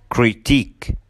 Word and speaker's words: critique: Number 7 endings with I Q U E, الكلمات اللي بتنتهي ب I Q U E بننطقها كمان long E, فبنقول unique boutique critique.